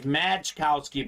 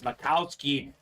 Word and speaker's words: Majkowski: them the magic man I know it looks like majkowski but it's Makowski the proper pronunciation uh JSA certified Maxi